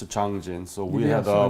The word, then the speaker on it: Changjin: So now we're talking about the Changjun Battle. Mm-hmm. Are you aware that it's Changjin in Korean pronunciation?